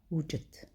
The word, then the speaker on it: wujid: Vous voyez la fin wujid, c'est une autre règle de prononciation. Quand vous avez le D neutre, il se croise avec un T, on prononce comme si double T, wujid.